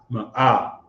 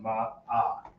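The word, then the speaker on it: מאה: So it's still pronounced Ma'ah. Right. M-A-A-H-H. M-A-A-H, if you want to write it like that. M-A. Ma'ah. You just draw it out just enough.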